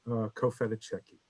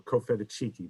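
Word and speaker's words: Cofitachequi: And I also have been working on Cofetacheki, or Cofetachiki, depending on how you want to pronounce that, a 16th century chiefdom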